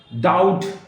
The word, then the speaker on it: doubt: डाउट, DOUBT, बी नहीं बोला जाएगा।